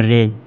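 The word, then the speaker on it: reign: দেখো এখানে কিন্তু গুরুকিজ নেই, অর্থাৎ জি এর উচ্চারণটা উজ্জ, জি উচ্চারণ হবে না, এখানে জিটা বাদ হলো, তার উচ্চারণটা হবে রেন।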